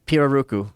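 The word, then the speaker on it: pirarucu: Piraruku.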